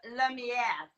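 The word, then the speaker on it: Lumière: But so you could pronounce it better because of the E. Because it's French. Yeah. Lumiere.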